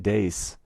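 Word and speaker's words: deis: i did learn that in latin d-e-i-s pronounced des is the ablative plural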